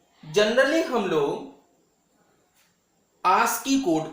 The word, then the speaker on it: ASCII: इसको हम लोग शॉर्टकट में आस्की के नाम से भी जानते हैं, प्रोनाउंसिएशन में आस्की भी बोल देते हैं, वो भी सही है.